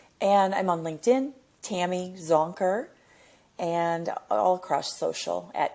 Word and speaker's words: Zonker: Google Zonker and you're going to find me. Spelled just how you think it's spelled. Yeah, exactly. Zonker. No S. That's the one mistake. People say Zonkers, which I think is maybe Zonkers.